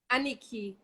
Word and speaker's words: Annikki: Ah, Annikki. That was good though. But so how do you say your first name? Your name. Annikki.